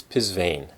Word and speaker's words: Psvane: and and she said this is how it's pronounced it's pisan so pisane is the name of the company these are